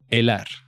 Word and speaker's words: helar: Helar. Helar. You never pronounce the H in Spanish, right?